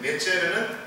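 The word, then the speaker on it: נצר: 히브리 말로 넷제르. 넷제르는 어떻게도 발음할 수 있느냐? 나사렛으로 발음할 수 있어요.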